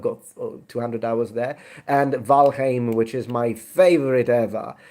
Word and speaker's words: Valheim: the way please it's valheim not valheim of valaim it's old norse in old norse e plus i is pronounced a not i that's german just to say in